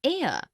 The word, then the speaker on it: heir: ink pad also an heir an honest an hour because the words air honest an hour begin with a vowel sound as the initial consonant H is not pronounced article 1.